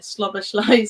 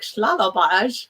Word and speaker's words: Szoboszlai: Did you guys see the interview with Pep where he just totally butchered Szoboszlai's name? So Pep was talking about him and he just went Dominic Schlalabaj or something.